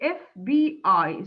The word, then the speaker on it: FBI: you see here are abbreviations that are pronounced one letter at a time you say fbi stands for federal bureau